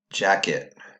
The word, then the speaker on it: jacket: I want you to say the full word jacket which syllable was quieter that's right the second syllable